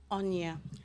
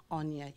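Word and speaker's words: Onyia: Onya, O-N-Y-I-A. Onya, you just say all the syllables. Onya.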